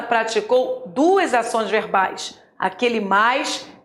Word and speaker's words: mais: atenção na minha pronúncia eu não falei mães eu falei mais não existe mães existe mais devo pronunciar mais para